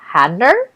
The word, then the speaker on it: Hader: And Bill Hader, is that how I pronounce his last name?